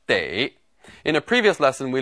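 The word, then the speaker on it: 得: also pronounced du but here it should be pronounced de in a previous lesson we learned that this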